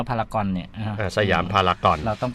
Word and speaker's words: พารากอน: อ่า ใช่ ครับ เ ต้อง อ่าน ว่า พารากอน เนี่ย สยาม พารากอน เรา